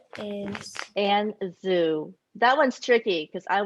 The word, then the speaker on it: Anne Zhu: So I just need help pronouncing your. It's LaMotte. Okay. And the illustrator's name is Anne Zhu.